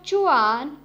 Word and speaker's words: zhuan: The next Pinyin is ZHUAN, has a pronunciation of chuan, chuan.